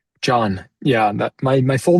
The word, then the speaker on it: Jon: Do you pronounce your name John? John?